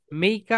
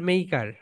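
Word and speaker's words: maker: না না না না, ব্রিটিশরা আর এর উচ্চারণ করে না ভাইয়া, ওরা বলবে মেইকা, মেইকা।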